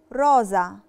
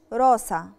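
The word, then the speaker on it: rosa: القاعدة التانية، لو لالترا اس جي قبليها فوكالي وبعديها فوكالي، فوكالي يعني حرف متحرك، مثال عليها كلمة روزا. روزا يعني وردة أو روز، هتبقى روزا مش روسا.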